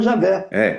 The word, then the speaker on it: Javé: Fala assim, olha, a esmagadora opinião acadêmica depende que o tetragrama, no tempo de Moisés, se pronunciava Javé. Ele fala que isso é uma coisa acadêmica. Na minha opinião de historiador e tudo mais, muito provavelmente é Javé, mas não é com J, né?